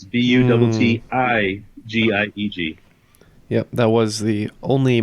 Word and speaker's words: Buttigieg: And I believe his name is spelled Buttigieg. Well, in this case, the I's have it because it's Buttigieg.